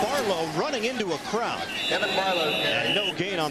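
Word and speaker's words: Kevan: He told us the real pronunciation is Kevin, not Kevin.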